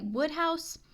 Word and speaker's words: Wodehouse: Also, somebody commented that the pronunciation for Wodehouse is actually Woodhouse.